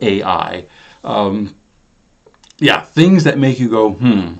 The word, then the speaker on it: Ai: Yes, in Hebrew, the name Ai, that's the pronunciation, means the ruin or heap of ruins.